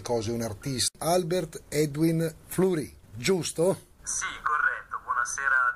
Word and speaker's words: Flury: Albert Edwin Fleury, giusto? Sì, corretto, buonasera a tutti gli ascoltatori. La pronuncia è corretta, sì, perché si pronuncia la tedesca in quanto il mio nome è di origine svizzero-tedesco.